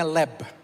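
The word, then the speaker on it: לב: Ada yang berkata bacanya tuh sebenarnya leb, L-E-B sebenarnya bacanya.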